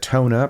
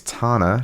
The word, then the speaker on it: Tana: We said Tona, but turns out it's Tana. She says like Donna with a T.